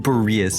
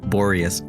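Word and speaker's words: Boreas: It is pronounced Bereus and not Borius.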